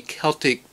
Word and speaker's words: Celtic: I'm going to use the Celtic pronunciation from now on.